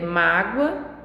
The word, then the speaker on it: mágoa: tônica é diferente né e mágoa a sílaba tônica está no mar magoa a sílaba tônica e já está no gol então elas elas estão